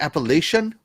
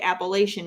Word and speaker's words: Appalachian: from the north and most of us from the north mispronounce it up north we say appalation which is very incorrect no actually it's uh